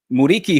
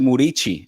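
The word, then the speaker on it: Muriqi: Uh Muriki, who actually you pronounce it Murichi.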